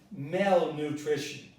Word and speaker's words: malnutrition: The stress is on mal, so it is malnutrition.